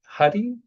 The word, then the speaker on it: Huie: And, before I give the proper intro to you, can you remind me your last name is pronounced Huie. Is that correct?